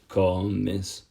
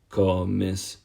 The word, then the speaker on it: comes: with an S, and you're just going to push down on the second last syllable yet again.